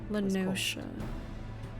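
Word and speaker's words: La Noscea: Lanosha. Okay, confirmed Lanosha pronunciation.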